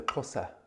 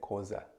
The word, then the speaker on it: Xhosa: you so much and the tribe is the kosa the cross of people and um but if you can't pronounce that then you can just say causa causa so the kosa